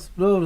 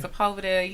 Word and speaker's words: Sepulveda: bus, it'd be like next stop Spud or something. I always say it wrong, like Spud. Yeah, you gotta get your Spanish tongue. So, yeah. Yeah. That rolling of the R.